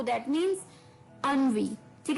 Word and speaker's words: ennui: इसकी प्रोनाउंसिएशन थोड़ी सी हटके है। अनवी, अनवी।